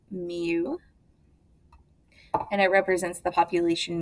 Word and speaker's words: mu: It is pronounced mu, and it represents the population mean.